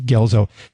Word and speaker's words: Guelzo: is called Gettysburg the last Invasion Allan C gzo it's spelled gu L zo and of course you're